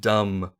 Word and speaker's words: dumb: Or the word dumb, you don't pronounce the B same way.